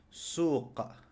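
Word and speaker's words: سوق: ¿Y cómo se lee esto? Suq. Suq. Es decir, la qaf no tiene vocal. Ni qa, ni qi, ni qu, sino suq.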